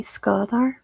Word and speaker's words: Skadar: I think it's pronounced like ska. It's like a really soft A, Skadar. Something like that.